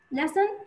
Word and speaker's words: lesson: The word lesson in the word lesson lesson has six letters وما ست حروف and five sounds because of the letters lesson ته ته is a silent letters here.